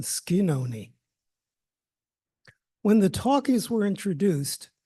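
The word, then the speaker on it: Schenone: name of that building shinon it's spelled that way however the family still uses the Original Italian pronunciation skoni when the talkies were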